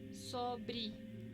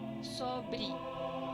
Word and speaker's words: sobre: Pero si no tiene ningún acento y se encuentra al final de una palabra, adquiere el sonido de una I. Por ejemplo, desde, sete, sempre, firme, forte, sobre.